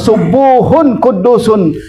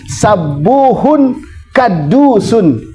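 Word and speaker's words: سبوح قدوس: sering orang lakukan dengan baca subuhun qudusun ada lagi bidomi aali itu Dom domah kemudian wabil Fathi aidon ada juga dengan membaca sabuhun kaddusun ada yang begitu Itu dengan Bil faathi dengan fathah bacanya Boleh enggak boleh tapi katanya katanya ajwaduha wa asaruha wa akaruhuma adammu yang paling banyak yang paling masyhur orang pakai subuhun qudusun sabuhun boleh Enggak boleh kadusun juga boleh cuman rasanya enggak enak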